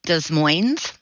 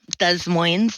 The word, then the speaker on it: Des Moines: We actually live in a tiny little suburb of Seattle called Des Moines. Des Moines, they do pronounce the S.